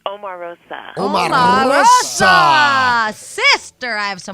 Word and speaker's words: Omarosa: How do you pronounce it? It's Omarosa.